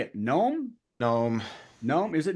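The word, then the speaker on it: Noem: Gnome. Nome? Is it Nome?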